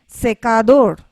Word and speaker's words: secador: the word and then secador means hair dryer again the stress is placed on the last part of the word means youth and then